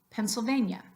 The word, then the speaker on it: Pennsylvania: these words in English Maria Maria and Pennsylvania Pennsylvania that is natural native English so look at